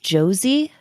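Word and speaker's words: Josee: stranger your name uh I think it's pronounced Josie the tiger and the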